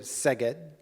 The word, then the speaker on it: Szeged: - So you went to University of Szeged, did I pronounce that right?